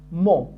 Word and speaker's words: mon: الكلمة بالأخضر هي déterminant وتنطق هكذا mon.